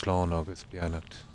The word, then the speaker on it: Slán agus Beannacht: It's pronounced Slán agus Beannacht.